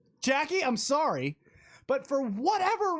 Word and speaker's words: Jacqui: I just thought it was a guy, and I didn't even know that was spelled Jacqui or pronounced Jacqui. I'd never seen it spelled this way, Jacqui.